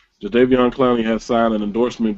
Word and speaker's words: Jadeveon: Jadeveon.